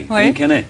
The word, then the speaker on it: Guillaume Canet: I keep getting his name wrong. Guillaume Canet? Oui, Guillaume Canet.